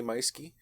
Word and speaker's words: Meuschke: So, side note, if you are a NaNoWriMo writer and you're planning on doing that this upcoming November, look me up, A. Meiske. It's spelled Meuschke. Look me up.